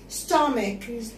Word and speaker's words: stomach: السي والاتش يا ولاد هنا اتنطقت ك. stomach.